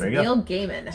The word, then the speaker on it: Neil Gaiman: confirmation online from neil gaiman himself it is neil gaiman so neil gaiman for all of you that have been mispronouncing it um norse mythology number two comes